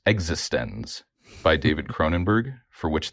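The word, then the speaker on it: eXistenZ: Um, and then my second movie I chose, Existence. No, it's actually pronounced existens by David Croninberg, for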